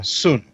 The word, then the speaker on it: Singh: sign of augmentation and I think the name was actually pronounced son yeah soon but it's not it's not it's not the it's not soon no it's Singh it's done no no